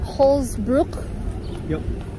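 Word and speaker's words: Holz-Brücke: the frankenmuth covered bridge it's called how they pronounce it holsbrook and it just means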